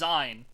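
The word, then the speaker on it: Zayin: Yeah, it's Zine.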